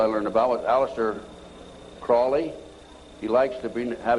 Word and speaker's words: Crowley: learned about with Aleister Crawley he likes to bring have his name pronounced Crowley to rhyme with holy and the sadness today